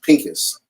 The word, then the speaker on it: Phinehas: right what's crazy in in the Hebrew it's actually pronounced Pinkus pink but in English